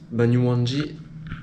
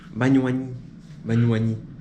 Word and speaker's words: Banyuwangi: Banyuwangi. Non. Banyuwangi. On m'a donné. J'ai la vraie signification. Voilà la signification, la vraie prononciation.